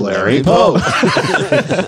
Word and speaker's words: Larry Pope: Hi, I'm Larry Pope. It goes down and then it goes up.